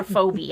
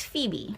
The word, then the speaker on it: Phoebe: before we're done today going to call her phobe I'm guessing yeah probably the name is Phoebe Phoebe that's how you spell it Phoebe yes so soe is